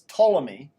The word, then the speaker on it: Ptolemy: our solar system is Ptolemy. Yeah, you don't pronounce the P, it's Ptolemy.